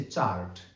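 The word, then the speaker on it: chart: और अगली कैटेगरी है उन वर्ड्स की जिसमें सी एच को च के रूप में उच्चारित किया जाता है। जैसे चार्ट सी एच ए आर टी चार्ट।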